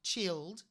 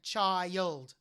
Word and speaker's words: child: so it's a diphthong you wouldn't say the the word child chilled you'd say child ie for the letter I so it's a diphthong and she pronounces that